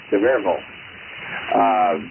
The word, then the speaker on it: Sevierville: I grew up in an area between Knoxville and Sevierville, and Sevierville, as they say it there, the word "ville" changes pronunciation in East Tennessee. It becomes "vol." Sevierville.